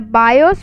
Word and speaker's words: BIOS: The BIOS, pronounced BIOS, is a ROM chip